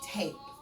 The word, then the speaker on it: tape: The silent E is what makes it say tape.